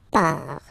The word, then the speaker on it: pars: So final S not pronounced, je pars.